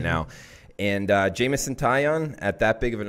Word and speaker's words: Taillon: We got Italian versus Bumgarner. Yes. That Jameson was one of the series. Taillon. Yes. Sorry, I pronounced that wrong.